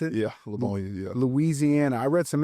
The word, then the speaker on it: Livonia: Is that how you pronounce it? Yeah, Livonia.